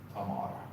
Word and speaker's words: Tamar: It's Queen Tamar.